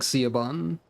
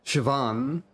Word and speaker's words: Siobhan: Wasn't there a Ciaban somewhere already? That's probably not pronounced like Ciaban.